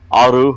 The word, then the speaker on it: aru: Discord server a r beton hu tuu n aru Hun if you want to say enemy or rival it's aru and that is spelled a r u beton e a and